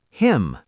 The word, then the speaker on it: hymn: Hymn, H-Y-M. Hymn, a song you sing in church. Condemn, C-O-N-B-E-M-N. Condemn, to judge harshly. Solemn, S-O-L-E-M-N. Solemn, very serious. See the pattern? M-N at the end, N is silent.